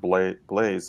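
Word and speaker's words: Blais: a link on the right side chef richard blaze am i pronouncing that right yep let's for example that's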